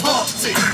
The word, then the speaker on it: Humpty: My name is Humpty, pronounced with the T.